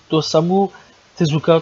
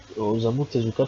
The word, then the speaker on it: Osamu Tezuka: l'enfant trois yeux de Dosamu Tezuka tout simplement. Excusez-moi pour la prononciation dégueulasse. C'est Osamu Tezuka tout simplement.